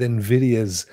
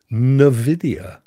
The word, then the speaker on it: Nvidia: did you know Ray Nvidia I'm still not sure if it should be pronounced I watched a thing the other day and the guy pronounced it Nidia Nidia I've always said Nvidia haven't you I see in I see Nvidia I Nidia he said Nidia as if it was an actual word I don't know anyway